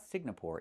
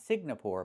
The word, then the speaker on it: Singapore: It's not Singapore, it's Singapore. The ng makes a sound mm in your nose. Sing, like when you sing a song. Together, Singapore. Not Sing-na-pore, but Singapore.